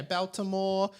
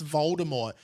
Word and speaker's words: Voldemort: yeah like I just she just can't say it right and you correct it's like no no it's Voldemort she's like yeah Baltimore